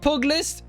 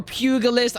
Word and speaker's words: pugilist: steady rounds we got the trade poglist or pugilist apparently i say it wrong final blows with this